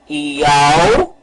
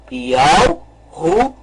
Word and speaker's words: Yahushua: Então vamos pronunciar o nome. Yahushua. Vamos novamente pronunciar. Yahushua. Este é o nome correto.